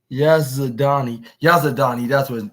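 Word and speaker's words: Yazdani: The American wrestler defeated Yaz Yaz Yaz Yazadani. That's how you pronounce it.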